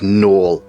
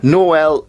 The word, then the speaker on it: Noel: how you pronounce things I pronounce it Noel as in Noel's house party but is Noel and yeah another very